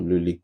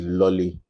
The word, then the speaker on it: Lohli: the pronunciation right for Luli cuz we hear several versions of it. Some will say it's Lolly. So, I said just put the pop so you know you're selling Luli pop.